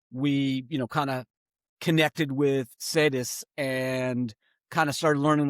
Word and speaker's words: Cedes: What was it that led you to, and I'm probably going to pronounce it wrong, but Cedes, like Mercedes, thanks. No, is how you pronounced it for me.